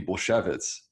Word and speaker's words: Bulsiewicz: It's a Polish name and you're kind of hitting on exactly the right way to say it, which would be Bulsiewicz.